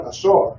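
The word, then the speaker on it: אשר: names i want to name my son ashore which means this is how you say asher in hebrew which means happy but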